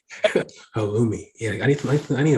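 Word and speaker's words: halloumi: sounds cool just saying you're saying it right halumi yeah I need I need a burger with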